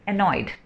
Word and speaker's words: annoyed: है, तो इसे भी मुझे ANNOYED, एनॉयड ऐसे बोलना है।